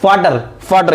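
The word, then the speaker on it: Vater: FATER, यानी कि वी को हटा के हम लोग एफ ऐड कर देते हैं। क्या? वी को हटा के हम लोग एफ ऐड करते हैं, तो हम लोग उसको क्या प्रोनाउंस करते हैं? फाटर।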